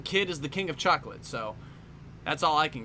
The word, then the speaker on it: chocolat: Apparently, some kid is the king of chocolate, so that's all I can get. What do you remember about Madeline? He's the king of chocolate. I'm sorry, not chocolate, chocolat. you gotta pronounce all the syllables.